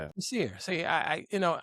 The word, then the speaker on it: Basir: How you pronounce it? Your name. How you do it? Bassier. Bassier. Like you say, you say Bassier. Bassier. Yeah. Bashier.